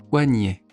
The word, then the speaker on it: poignet: Poignet.